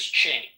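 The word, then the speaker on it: Qing: Quing. Hello. Quing, if I'm pronouncing that right. Quing. Quing. Q. Q I N G. Q I N G once. Q I There it goes. It's pronounced as Ching.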